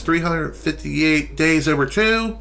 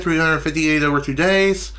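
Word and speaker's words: 358/2 Days: 358 days over - some people say it like I said 358 over two days I say like a math equation 358 over two days that's how I say it and I'm going to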